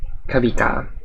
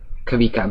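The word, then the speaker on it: Kawika: Spelled K-A-W-I-K-A. It's Hawaiian, Kavika. Or Polynesian. I don't actually know if he's... No, he's Hawaiian. Yeah, Kavika.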